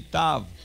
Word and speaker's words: tav: Say with me, tav. Tav. A tav is a T. A T. Hebrew has two T's. This is the, a tet. A tet. Hebrew has two T's, the tet and the tav.